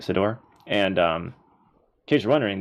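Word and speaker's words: Ciddor: And this was by Philip E. Sidor, I think is actually how you say it, Sidor.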